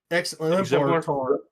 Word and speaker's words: exemplar: No, there's no T. Exemplar.